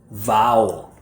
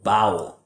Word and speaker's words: vowel: And for some students, especially Spanish speakers that don't separate B like boy and V like victory, what I often hear instead of vowel is bowel.